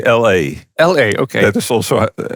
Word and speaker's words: Ale: That's quite different because sometimes they call me Ale, like the English beer. Yeah. But I like the most that they call me LA.